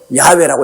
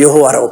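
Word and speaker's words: 야훼: 그대로 그 성호를 불러야죠 우리 한국 교회도 모름 적이 어 성경에도 야외라고 이름을 정화하게 그대로 기록해야 돼요 왜 여호와라고 불러요 실제 하나님 승호가 야외인데 우리 교회도 보면 찬송할 때 또 여호와로 불렀다가 기도할 때는 또 야외로 불렀다가 나는 찬송할 때나 어디나 여호와 이름 나오면 그대로 우리 아버지 증한 바면 야외로 그렇게 발음을 합니다 자기 아버님 이름도 올바르게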